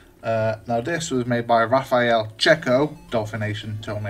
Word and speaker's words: Raffaele Cecco: Now this was made by Raffaele, Cecco, Dolphin Nation told me how to say his name properly, Nigel Brownjohn, and music by Nick Jones.